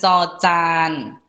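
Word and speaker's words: จ จาน: Kemudian ada kategori konsonan cocan. Oke. Nah, cocan itu kita baca dengan bunyi C. Jadi di antara C dan juga J.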